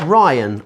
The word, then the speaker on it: Rhian: what that was um rhian has also been in touch as well and says joe my name is rhianne but pronounce ryan i am a girl